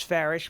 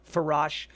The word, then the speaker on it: Farash: So my last name is Farish, but it's spelled Farash. A lot of people pronounce it Farash, and its ancestry comes from Turkey.